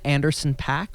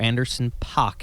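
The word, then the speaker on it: Anderson .Paak: believe uh uh one anderson pack or anderson pock if you're properly pronouncing both of the a's true but yeah it's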